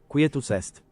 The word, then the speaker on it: Quietus est: I just want to see how it's actually pronounced. Quietus est. Quietus est. Okay, so it was est.